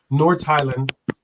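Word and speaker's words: Nordsjælland: North Highland, because the J is pronounced with the H. North Highland, which is in Denmark.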